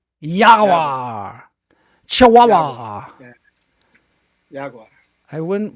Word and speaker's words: jaguar: Jaguar. Jaguar. No. It's pronounced Yawa. Yaguar.